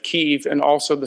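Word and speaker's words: Kyiv: actually uh appreciate now knowing the uh correct pronunciation of keeve and also the spelling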